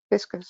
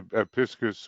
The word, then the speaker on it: Pisces: Now, I went to the 12 created hierarchies and I saw that Cancer and Pisces, am I saying it right? Pisces? Yeah, you can say it that way, Pisces or Pisces or Pisces, you know, different Oh, ways of Pisces, saying it.